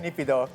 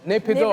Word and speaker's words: Naypyidaw: the new capital of it begins with N-A-Y-P-I, Naypyidaw. Is that how you pronounce it? How do you pronounce it? How do you pronounce it? Naypyidaw. Naypyidaw.